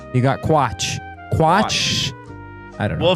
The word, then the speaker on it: Quatsch: It's actually a German word. It's Quatsch. Quatsch.